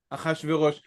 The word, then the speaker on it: Achashverosh: But I find myself calling him Akashveros. Achashverosh. Right. You chose a Persian name to stick to the Hebrew pronunciation. So yeah, go figure. But I can't help it now. I think the Persian pronunciation stuck that in my head there, huh? I think the Persian pronunciation is Chashiyarsha, but whatever.